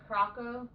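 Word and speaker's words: Curaçao: Siricao is how I Siricao? pronounce it. That's how I pronounce it. Okay. I have no idea. And some people, it's Caraco. Caraco. That's how I've heard it pronounced. I pronounce it Siricao, Okay.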